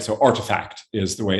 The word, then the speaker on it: RTFKT: Right, so Artifact is the way it's pronounced.